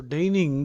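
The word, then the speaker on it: deign: a negative word so daning daning means to do something which one thinks is below one's dignity to do H ding d e i g n g is silent to condescend to condescend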